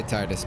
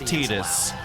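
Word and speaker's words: Tidus: We've been saying Tetus. I haven't. Sometimes I say Titus, but mostly Tetus. We We acknowledge that the correct pronunciation uh per the writer is Tetus.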